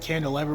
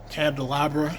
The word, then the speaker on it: candelabra: I was saying it wrong, like, in my older videos I said candelabra, but it's actually called candelabra.